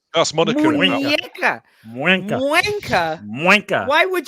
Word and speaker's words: muñeca: No, you wouldn't pronounce the N that way with the little tilde on top. It's a It'd be Muñeca. Muenca. No, Wanker. it's an enye, which is muñeca.